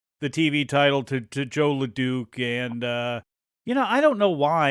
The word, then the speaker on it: LeDuc: You're rubbing off on me, Mike, because I always called him LeDuc. And then I heard you call him LeDuc, and I go, well, dang, maybe I've been saying it wrong all these years.